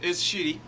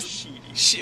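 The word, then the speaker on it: Schiti: The art is shitty. It's pretty shitty. Yeah. Valerio Shitty is the artist. Yeah. So sorry. I really need to pronounce it. Sheedy.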